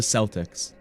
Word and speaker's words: Celtic: Isn't it up that this is pronounced Celtic but the sports the basketball team is from the Celtics. Isn't that up? Specifically the basketball teams are the Celtics but this is Celtic.